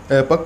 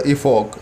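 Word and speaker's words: epoch: ये देखिए, ये जो हमारा यूएस प्रोनाउंसिएशन है एपक। और अगर यूके प्रोनाउंसिएशन आप जानना चाहते हैं तो वो भी मैं आपको बता देता हूँ, वो होता है इफॉक।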